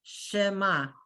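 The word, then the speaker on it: שמע: is silent so it's shema okay there's no sound after ma the inf totally silence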